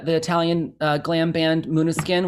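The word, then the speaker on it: Måneskin: italian uh glam band muna skin which is spelled like main skin yeah um so i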